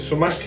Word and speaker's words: sumac: of sumac in there that's how you pronounce it so mac just pour a little